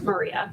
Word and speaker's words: Maria: Dr okay first name is pronounced Maria Maria oh the free the